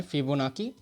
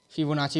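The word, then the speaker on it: Fibonacci: Last question है फिबोनाकी series. फिबोनाची भी बोलते हैं इसको। तो नाकी नाची जो भी बोलना है बोलो। प्रोनाउंसिएशन आप पे डिफरेंट लोगों के डिफेंड हो सकते हैं।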